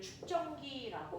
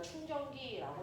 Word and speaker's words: 축전기: 전하를 모아두는 기기를 축전기라고 해요. 됐니? 그걸 우리가 충전기라고 잘못 발음하는 것 뿐인데 원래는 축전기입니다. 축전기. 저축한다 할 때 축이에요.